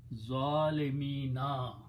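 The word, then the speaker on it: ظالمين: Okay, and in order to pronounce, we put a kasra on mim, so it becomes zalimina.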